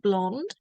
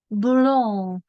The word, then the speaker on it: blond: This is like the English word blonde. And we pronounce it like this. Blond. In this case, the D and the S are silent. You don't hear them.